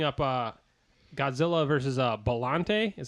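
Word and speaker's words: Biollante: going to bring up uh godzilla versus uh bellante is how you pronounce it which was actually like it was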